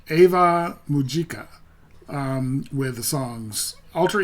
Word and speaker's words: Ave Mujica: And I I keep I think I pronounced it four different ways in this video alone. It's Ava Mujika um with the songs Ultra Ego, Kill Kiss, and Symbol One Fire.